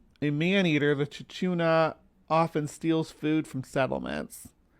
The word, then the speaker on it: Chuchuna: However you saying it, it's spelled ch h u c hu n a here. I'll show you guys. This is from Bigfoot Encounters, but that's how that's how it's spelled right there.